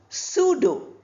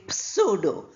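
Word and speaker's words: pseudo: Sudo, we don't say pudo. P sound is not there.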